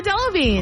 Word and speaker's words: Delevingne: But I believe it is Cara Delevingne. You got it, Cara Delevingne.